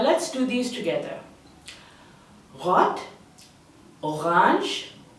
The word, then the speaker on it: Orange: me next we have orang orang the spelling might be the same but the pronunciation is different then we have GB